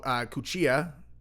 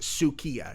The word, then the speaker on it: Cuccia: This is on Candace's story where Gabrielle Cuccia, that sounds wrong. It's like, Gabrielle, what's your last name? She's all Cuccia. You're all, really? Yes, it's pronounced Sukiya.